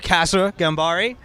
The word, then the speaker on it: Kasra Ghanbari: Kasra Ghanbari.